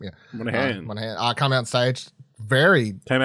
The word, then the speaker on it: Monaghan: Monaghan.